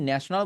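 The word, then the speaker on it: national: নেশন নেই নেই নেশন কথা হচ্ছে এইটা নেশন বাট যখন আপনি ন্যাশনাল বলতেছেন তখন বলবেন ন্যাশনাল ন্যাশনাল ন্যাশনাল একটা নেশন একটা ন্যাশনাল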